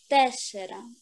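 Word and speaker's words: τέσσερα: Тесера. Тесера. Молодец. Так как будет? Т-о это С, да? Да. С это О с черточкой. Тесера. Тесера. Ударение на первой Э.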